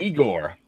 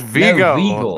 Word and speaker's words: Vigo: Netflix you'll see legal how you pronouncing our count there's definitely an R in there that shouldn't be there they said I'll tell me what you're saying Igor its Vigo the Carpathian yeah the Carpathian